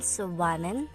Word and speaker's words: Subanen: their dialect spoken is the subanon pronounced in subanen it is the dialect